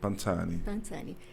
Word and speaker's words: Pansani: Pansani, como que eu pronuncio correto? Pansani.